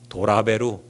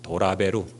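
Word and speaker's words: トラベル: 영어로 트래블이라는 단어를 이 일본 사람들은 뭐라 그러는지 아십니까? 도라베루 이럽니다. 도라베루.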